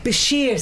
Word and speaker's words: Bchir: okay this year right okay so so it's pronounced it again first this year Basheer sister so what made you come up